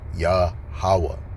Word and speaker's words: Yahawah: The tetra dramatin salaki for pronouncing incorrectly, but the correct Hebrew pronunciation is Yahawa. So let's go to Proverbs the 18th chapter and let's go to verse 10. This what it reads. The name of Yahawah is a strong tower.